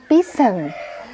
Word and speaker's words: pheasant: Nulisnya peasan, tapi bacanya pisen bener. Pisen ya, betul.